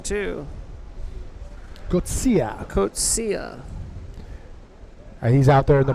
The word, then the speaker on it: Coetzee: The South African, Wesley Coetzee. Kotsia. Coetzee. I've been saying it wrong too. Coetzee. Kotsia.